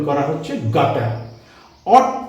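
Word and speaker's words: oughta: অট to, should, উচিত, কর্তব্য ইত্যাদি বোঝাতে যেমন আমরা শুড ব্যবহার করি, তার পরিবর্তে অট টুও ব্যবহার করা যায়। অট টু, একে উচ্চারণ করা হচ্ছে অটা সংক্ষেপে।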